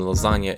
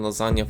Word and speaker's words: lasagna: This is the phonetic transcription, and this is the sound expressed by the -gn- combination of letters. There is no other way in the Italian language to express this sound, and -gn- can only correspond to one sound. So there can't be any confusion about how to spell or pronounce lasagna in Italian, and you don't have